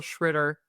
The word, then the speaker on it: Tschritter: In German they say uh and in the US people say shritter, but it's hard. It's really hard to pronounce. So I just tell people shritter and that's that's all it is.